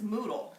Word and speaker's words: Moodle: And then we're going to be doing, and I say it wrong, I say Zoodle, but it's Moodle.